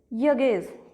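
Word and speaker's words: Hughes: top written by टेड इसको बोलेंगे देखो एच यू जी एच ई एस इसमें क्या है एच जो है वह साइलेंट आएगा ठीक है तो इसको बोलेंगे यगज ठीक है यगज नेक्स्ट है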